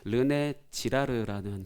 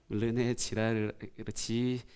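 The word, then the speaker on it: 르네 지라르: 않으실 아실 것 같은데 르네 지르라는 분이 있어요 르네지라르 발음 잘해 이름 잘못 말하면 욕한게 되거든 르네 지르라고 하는 인문학자 분이 계시는데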